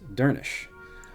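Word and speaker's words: Dernisc: Dernisk is pronounced Dernish. So that person that we ran into last session would be Pernish. I think that was the name anyway. Since the final SC cluster sounds like a sh sound.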